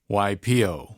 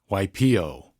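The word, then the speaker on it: Waipiʻo: A lot of people say waipio, waipio. Without the okina, waipio.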